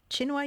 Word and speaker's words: Tsinghua: Oxford University and now it's uh Chinua, you pronounce it like this Chinua University. Chinua, that's right, Chinua University.